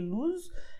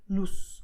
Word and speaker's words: luz: Even though the letter Z at the end of the word, it can sound like Z, it can also sound more like S, like sun, okay? So you can say luz and you can say luz, okay? So it depends a little bit on the person.